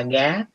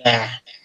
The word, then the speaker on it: が: ở trong câu này nó sẽ không đọc là gá, nó đọc là gà, nó đọc là gà, hiểu không?